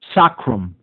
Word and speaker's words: sacrum: Sacrum, it would be actually pronounced.